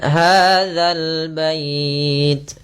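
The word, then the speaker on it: هذا البيت: Kemudian hadzal bait. Hati-hati dalam pelafalan dza jangan sampai dibaca dengan hadit. Sering terjadi kita mendengarkan huruf dal diganti dengan zai. Ah, ini kurang tepat dan bahkan bisa merubah maknanya.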